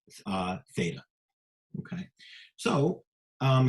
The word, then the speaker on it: theta: line through the middle uh middle and it's pronounced uh theta okay so um how does this look in